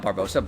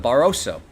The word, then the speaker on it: Barroso: Oh, excuse me, not Barbosa, Barroso. I added an extra syllable to their name.